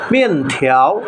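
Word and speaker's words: 面条: সকল শিশুরাই পছন্দ করে, মিয়েন থিয়াও। এখানেও 2টি ক্যারেক্টার দিয়ে লিখেছে। মিয়েন থিয়াও অর্থ হচ্ছে নুডলস। মিয়েন থিয়াও, মিয়েন চাইনিজ উচ্চারণ, এটা ফোর্থ টোনে। থিয়াও চাইনিজ উচ্চারণ সেকেন্ড টোনে।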